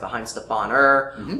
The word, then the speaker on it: Weihenstephan: The one that I have is Weihenstephan. You'll also hear it pronounced Weihenstephaner, or Weihenstephan, or Gwen Stefani. Any number of those will work. People know what you're talking about.